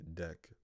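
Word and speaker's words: deque: and Q containers so DQ a double-ended Q pronounced or I see deck is a double-ended Q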